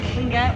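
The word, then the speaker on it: Tlingit: and we learned and you guys know how to say the word can get okay and have you seen it spell tli we're not and we're not that clean it's like clinking tea glasses together which you get so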